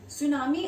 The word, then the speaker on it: tsunami: Next one is undersea earthquakes sometimes causes tsunami. इसमें T silent होता है, तो यस स्पेलिंग में एरर मत करना. सुनामी are known as, सुनामी को और क्या कहा जाता है?